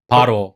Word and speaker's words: Baro: The correct pronunciation is Balo and Balo. Baro. Oh, Baro. Baro. Okay.